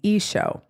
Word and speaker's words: Isho: s h UA syc Christians whose language is essentially Aramaic as Jesus would have spoken it pronounce his name isho but ultimately the name